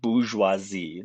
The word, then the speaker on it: bourgeoisie: That's pronounced bourgeoisie. Now I'm terrible with French pronunciation, so don't hold me to that if you speak French.